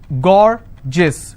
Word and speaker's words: gorgeous: So gorgeous, 2 syllable, I will stress on gore.